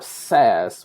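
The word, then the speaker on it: Sass: called LESS, L-E-S-S, or SAS, which is spelled differently, S-A-S-S.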